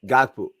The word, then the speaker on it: Gakpo: How you pronounce him? Gakpo.